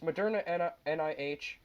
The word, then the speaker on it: Moderna: pronounce things royal do you want me to pronounce them for you no it's modern nih and they are expecting to be approved by